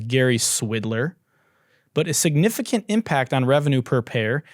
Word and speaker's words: Swidler: The chief financial officer and president of Tinder's parent company, Match Group, Gary Swidler. I mean, just sounds like, it almost sounds like Swindler, right? And rhymes with Twitter and Tinder.